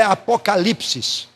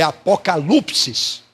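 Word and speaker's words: ἀποκάλυψις: palavra no original grego não é apocalipsis É apokalupsis tá essa é a pronúncia Célia certa tá apokalupsis Repita comigo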